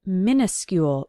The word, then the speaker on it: minuscule: Now, it sounds like minuscule when we pronounce it, so you might think it starts with M-I-N-I, because we do use the prefix mini to talk about small versions of things. But minuscule starts with M-I-N-U.